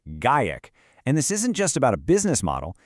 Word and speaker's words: GAIEC: It comes from this new philosophy, a kind of creative code of conduct from a group called Gaic, and that's pronounced GaKek.